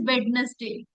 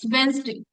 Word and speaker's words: Wednesday: Most of you pronounce this word as badness day. It's not badness day. It's Wednesday.